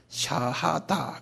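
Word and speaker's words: Shahada: SHA 샤, 그 다음에 HA 샤하 그런다고요. 그 다음에 다 샤하다 그래. 이거 우리 다 알아들 필요 있어요. 한번 발음해 보실래요? 샤하다.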